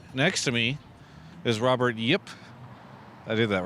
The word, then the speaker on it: Yip: Behind me is Immortals, but next to me is Robert Yip. I did that right? Very good pronunciation.